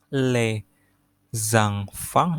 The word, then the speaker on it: les enfants: Les enfants, les enfants, ini kan ada S-nya, makanya digabung bacanya les enfants, ada liaison namanya.